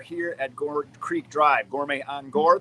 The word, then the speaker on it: Gourmet on Gore: Gourmet on Gore. There is no the. It's a common mispronunciation.